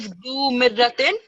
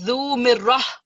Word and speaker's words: ذو مرة: The ta will always, this ta marbuta will always turn into ha. So instead of zu mirratin, it's zu mirrah. Okay, the ha sound at the end.